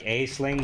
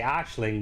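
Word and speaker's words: Aisling: if they say like asling they're probably not Irish if they say Ashling they're Irish although it depends cuz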